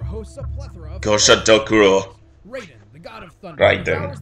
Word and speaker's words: Raiden: Raiden, the god of thunder, powers the stomachs of children, kappas. The Japanese pronunciation is Ryden.